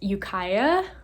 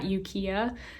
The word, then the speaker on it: Ukiah: um by the way it's pronounced ukaya not yukiya i think but um yeah we